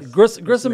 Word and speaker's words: Grissom: were done with the Bruce yellow helped me Grissom am I saying it right yeah Grissom Air Base and the museum if they've got